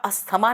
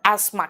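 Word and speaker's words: asthma: कहते हैं ना उसको इंग्लिश में बेटा अस्थमा नहीं कहते उसको एस्मा कहते हैं टी एच वहां पे साइलेंट है है ना आप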